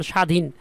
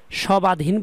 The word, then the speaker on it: স্বাধীন: কেমন হয় উচ্চারিত হয় শব্দের আদিতে যদি ব ফলা থাকে যেমন স্বাধীন তিনটা সয় ব এখানে সবাধীন বলি না কিন্তু আমরা স্বাধীন বলি শব্দের মাঝে ব থাকলে